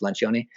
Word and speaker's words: Lencioni: The Advantage by Patrick Lencioni. It's about, you might pronounce it different if you speak it in like American or British English, but in Italian it's Lencioni.